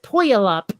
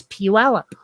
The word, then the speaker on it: Puyallup: state mispronounce puyallup chuella puyallup p-u-y-a-l-l-u-p it looks like poyolap but it's puella there's a lot of